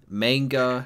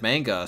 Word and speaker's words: manga: He pronounces manga like how you would say Jenga. Manga, Yeah, wrong. It's not pronounced manga. I know it's just manga.